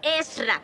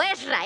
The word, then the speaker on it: Ezra: Son 2 sílabas. Ezra. ¿Cómo tengo que decirlo? Ezra, ese es mi nombre.